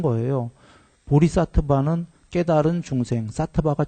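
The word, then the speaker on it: सत्त्व: 보리 사트바 깨달은 중생 사트바 중생이 사트바 또는 사트 와 와 발음 나는 건데데 보리 사트바 깨달은 중생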